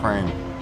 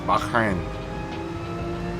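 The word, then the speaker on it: Bahrain: train real good RAC Bain I've been putting an A in there it's it's Bakin there's no there's no other a in Bak b a h h r a i n i noticed that last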